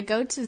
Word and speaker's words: Goto: Yeah, I really want to encourage everybody to go to Goto. Did I say it right? Goto. Goto, that's right.